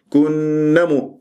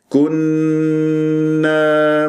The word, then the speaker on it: كنا: كأنه نون مشددة فقط، فلازم كنمس، هكذا تجيب الألف مد طبيعي حركتين، ما كأنه تجعلها نون مشددة مفتوحة، كنمو خطأ، كنا مس، هكذا بهذه الطريقة.